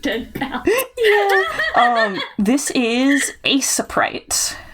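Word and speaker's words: Aseprite: Um, this is asaprite. I'm over pronouncing it so you can hopefully spell it.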